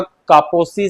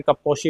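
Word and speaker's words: Kaposi: वो होता है आपका कापोसी सारकोमा। कापोसी बोलते हैं, कपोशी भी बोलते हैं, जिसका ये अलग अलग प्रोनाउंसिएट करते हैं।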